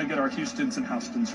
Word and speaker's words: Houston: one of them is in republican county i mispronounced it earlier for the record i want to say correctly it's houston county now it's houston county there's also a